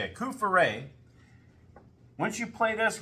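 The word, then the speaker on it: Coup-fourré: And you can say, oh, I'm trying to remember, Kufure, that's how you say it, Kufure.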